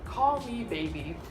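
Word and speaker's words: Kol Me Baby: It is from a brand that is already funny because it is called Call Me Baby. But wait. It is spelled like this. K-O-L, me baby.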